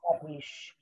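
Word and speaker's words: קדיש: Kadish.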